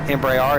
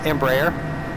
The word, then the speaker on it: Embraer: the Embraer Phenom 100 someone told me they wanted me to stop saying embra R and that is how I pronounced it and I realized okay it's not embar it's Embraer and okay I'm not